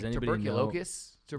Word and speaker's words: tuberculosis: tuberculosis. Yeah, Tuberculosis. close. Tuberculosis. Yeah, I pronounced it wrong, Yeah, but yeah, I'm gonna well, get roasted for that.